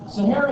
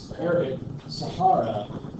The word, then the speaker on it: Sahara: Sahara is how we pronounce it, sure, but the Arabic Sahara.